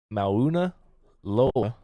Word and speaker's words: Mauna Loa: I don't know how to say this word, but in 2022, Mauna Loa, the world's largest active volcano.